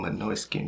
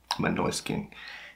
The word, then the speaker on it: Måneskin: bringing my skin on my noise skin this is how to pronounce it my noise skin you're bringing my noise